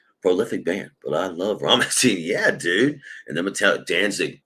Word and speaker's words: Rammstein: You pronounce it Rammstein.